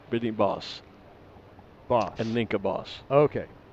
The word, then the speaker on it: Bos: Ninka says it's not, actually she says booze, B-O-O-S, I think she means Bose, as that means angry in Dutch. So just B-O-S, boss, with a short O, meaning forest in Dutch.